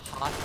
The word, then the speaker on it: Hoth: Like, instead of Hoth, I always pronounce it Horth for many years.